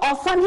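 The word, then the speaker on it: often: हम क्या बोलेंगे ऑफ्टन, लेकिन आपको ऑफ्टन नहीं बोलना है, इसको ऑफन ही प्रोनाउंसिएट करना है क्योंकि यहाँ पे टी कैसा है हाइड हो जाता है, साइलेंट हो जाता है।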